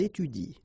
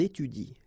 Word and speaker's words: étudient: the plural form, so N, T, well, you don't pronounce it. So you will get ils étudient, all right? Ils étudient.